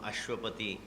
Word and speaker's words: Ashwapati: of the English rhythm ashwapati it's a four syllable word with stress of the first syllable very very rare English